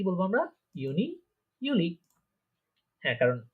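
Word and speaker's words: Juli: তারপরে দেখেন জুন, জুলাই, এই দুইটা উচ্চারণ হবে ইউনি, ইউলি। ইউনি, ইউলি। হ্যাঁ, জুন জুলাইকে কি বলবো আমরা? ইউনি, ইউলি।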